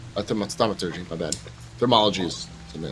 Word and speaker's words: thaumaturgy: Thaumaturgy, not thermology. Thaumaturgy.